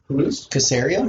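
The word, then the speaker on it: Caserio: of personnel that's how you say his name casario nicosario where'd you work with patriots how bad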